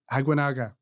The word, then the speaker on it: Aguinaga: Aguinaga.